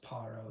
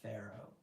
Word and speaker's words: Pharaoh: I've I've researched the the title parro before and that's how it's pronounced parro. It's not Pharaoh.